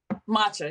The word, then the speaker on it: matcha: You know why we're doing, how do you say, by the way, matcha? Matcha, it's matcha, Okay.